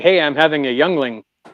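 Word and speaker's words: Yuengling: It kind of sounds like me when I say, "Hey, I'm having a youngling."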